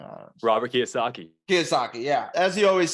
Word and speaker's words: Kiyosaki: Robert Kiyosaki.